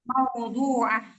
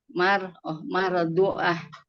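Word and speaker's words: موضوعة: Wa akwabum dan gelas-gelas mardu'atun mawdu'ah. mardu'ah dibacanya ya. Huruf waw, bukan mar. Mawdu'ah.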